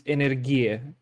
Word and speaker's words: Energie: Yeah, so I found in German it's Energie. This is how it's pronounced.